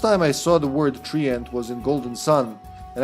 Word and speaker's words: treant: When I was younger, the first time I saw the word treant was in Golden Sun, and I read it as Trent. Didn't know. Didn't know you're not supposed to pronounce it that way. Treant, but no, treant bulb is what I'm looking for.